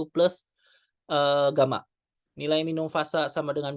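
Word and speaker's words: Γ: Nah, return loss rumusnya adalah minus 20 log eta. Ini dibacanya sebenarnya ini gamma ya. Gamma kapital, bukan gamma yang kecil.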